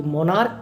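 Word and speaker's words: monarch: होता रिपीट ठीक है लेकिन यहां गौर करें की मोनार्क का भी जो लास्ट में क है उसका परिणाम सेशन अर्थात उच्चारण हम के कर रहे हैं मोनार्क और स्टमक इसका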